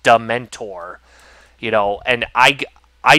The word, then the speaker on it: dementor: So I all so I pronounced it as demur. Yeah. I lit I literally pronounced it demur. I because I didn't know that it was pronounced dementor, you know.